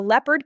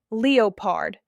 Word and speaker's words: leopard: A leopard can't change its spots. Many learners stress the wrong syllable. It's not leopard, it's leopard. Stress the first syllable.